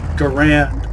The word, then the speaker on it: Garand: The M1 Garand, for example. For the longest time, I pronounced it Garand, but Ian McCollum says Garand, so. And he's a credible source.